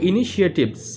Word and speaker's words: initiatives: সুতরাং এই যে লিডিং ইন্ডাস্ট্রিয়াল কান্ট্রিজ মানে একদম শিল্পোন্নত যে দেশগুলো সেগুলো হ্যাভ টেকেন ইনিশিয়েটিভস মানে হচ্ছে উচ্চারণটা হবে ইনিশিয়েটিভস, মনে রাখবে, এর অর্থ হচ্ছে উদ্যোগ।